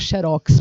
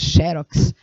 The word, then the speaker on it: xerox: texto falado, algumas pessoas poderiam ter dificuldade de pronunciar xerox, porque a maior parte de nós, brasileiros, chamamos xerox, optamos pela outra versão, xerox. Mas lembrando que na língua portuguesa, para que você possa pronunciar a palavra como xerox, aqui deveria haver um acento, porque diz a regra